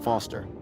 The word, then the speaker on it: Foster: pickle so it does I'm Foster I'll remember that easy because your name rhymes with fossil and you're old thanks kid what's